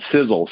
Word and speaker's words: Sisel: for something literally and it's in our name sizzle sizzle is spelled s-i-s-e-l it's an acronym the first letter